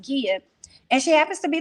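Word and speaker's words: Gia: prince it looks like it's jia but it's pronounced gea and she happens to be the wife to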